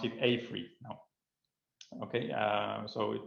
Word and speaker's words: AFRY: we have progressed here um and we actually pronounce it a3 now okay uh so it was created in